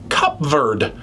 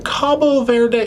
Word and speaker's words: Cabo Verde: is it seems like listening to the locals, most of them call it Cupver. Y'all, I was putting way too many syllables. I'm sitting here going Cabo Verde. Mm- Don't do it.